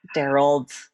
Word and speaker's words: Darold: it feels a little every time you said darald I felt like you were like about to